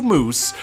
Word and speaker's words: moose: time, don't say meese, don't say meese, because that's not the proper way to say it, right? And then I went ahead and said it anyways. But yeah, we're doing two moose for this habitat, one male and one female.